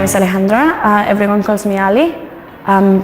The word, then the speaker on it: Alejandra: said it right yeah how do you say it alejandra a little bit more soft wow fabulous all right